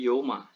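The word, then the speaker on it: ܝܘܡܐ: bacanya panjang Yauma Nah di sini bukan Yauma tapi Yoma Yoma nah seperti itu kemudian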